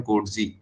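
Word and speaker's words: Coetzee: इज the retailing of रोबिनसंस बाय जे एम कोड जीी कोड जीी की spelling है सी ओ ई टी जड double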